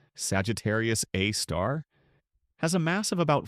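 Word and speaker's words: Sagittarius A*: Our galaxy's central black hole named Sagittarius Abe, pronounced Sagittarius A star, has a mass of about 4 million suns.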